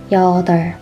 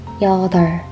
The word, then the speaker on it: 여덟: It means number 8 in English, and we pronounce this as 여덟. 여덟. We remove the b sound. 여덟.